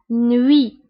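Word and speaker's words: nuit: هنا تي في آخر الكلمة لا ننطقها، نوي.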